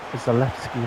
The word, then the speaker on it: Zalewski: Zalewski, that's how it's pronounced.